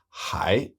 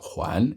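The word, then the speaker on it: 还: most common by far so the most common pronunciation for this character is hi which means still p a how has he still not come yet why hasn't he come yet but when you pronounce his character Juan it means something completely different it means to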